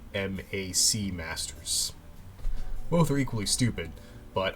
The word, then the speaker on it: WMAC Masters: would you say that i say well mac masters but apparently it's w wmac masters both are equally stupid